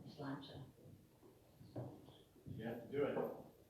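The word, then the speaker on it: Sláinte: and the guy said, just think it's a lawn chair. It's lawn chair, it's lawn chair. A lawn Slancha, that's how it's pronounced. Slancha. Slancha.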